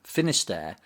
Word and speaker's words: Finisterre: poems theme of renewal the final word of the poem Finisterre literally means the ends of the earth but it's rhyme with prayer in the opening line suggests an end that's